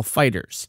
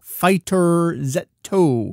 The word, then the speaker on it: FighterZ: the press release and the Japanese title it appears to just be read as straight up Dragon Ball Fighters were it to have a letter Z pronounced as the letter Z as in the title Dragon Ball Z where that's written out as the dragon B zetto it's not there it's not Dragon Ball fighter zetto it is Dragon Ball